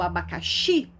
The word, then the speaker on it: abacaxi: Então, quando você fala assim, abacaxi, pronuncia em casa a palavra abacaxi. Quando você fala o abacaxi, a sílaba mais forte é o xi.